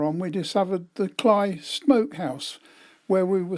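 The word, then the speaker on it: Cley: shops we stopped at kly next the sea that's spelled c l y but it's pronounced by the Norfolk dumpling as cly so I call it cly next the sea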